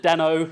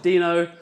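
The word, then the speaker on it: Deno: which is this thing he also calls it demo he is wrong I don't care if he invented it it's pronounced Dino has anyone who's heard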